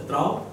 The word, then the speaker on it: Trouw: So Trouw is pronounced as Trouw in Dutch, and that means loyal.